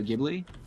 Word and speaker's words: Ghibli: but pretty influenced by studio gym it's ghibli i can't even pronounce